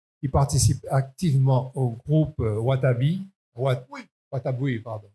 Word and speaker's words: Wataboui: Il participe activement au groupe Wataboui, pardon, il y a le W. Parce que comme dans Dorling Carter, on ne prononce pas le W, alors là, dans Wataboui, je ne vais pas prononcer.